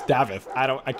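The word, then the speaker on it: Daveth: It's not David, it's Davith.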